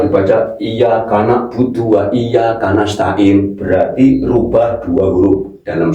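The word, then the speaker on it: نَسْتَعِينُ: Iyaka na'budu wa iyyaka nastain bukan tain. Kalau tain ganti huruf lagi. Kalau nastain loh kalau dibaca kalau dibaca iyaka na'budu wa iyaka nastain berarti rubah dua huruf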